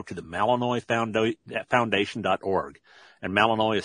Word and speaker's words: Malinois: And Malinois is spelled M-A-L-I-N-O-I-S, Malinois.